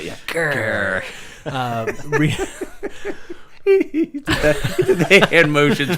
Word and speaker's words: Ghur: Ghur. You got to say it like that. Yeah. Ghur.